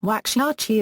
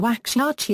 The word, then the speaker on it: Waxahachie: Waxahachie is the county seat of Ellis County, Texas, United States, and lies just beyond the southern suburbs of Dallas.